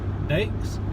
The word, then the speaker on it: Daith: Daiths? Daith. Okay. Like faith with a D.